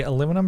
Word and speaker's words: aluminum: The aluminum pronunciation is so it can rhyme with cinnamon in the December's song Sons and Daughters.